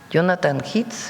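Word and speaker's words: Jonathan Heath: El problema, como bien dijo Jonathan Hits, así se pronuncia, es un asunto de salud pública.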